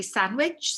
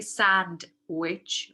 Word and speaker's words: sandwich: word so sandwich uh sometimes you hear people drop the di so you say sandwich sandwich you don't say sand witch right sandwich and this is because